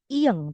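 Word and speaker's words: 이응: nah bulat-bulat ini disebut ieng teman-teman gitu ya bulat-bulat ini disebut I Oke fungsinya apa fungsinya ini adalah teman vokal Jadi sebenarnya dia tidak dibaca tidak ada bunyinya dia hanya menemani vokal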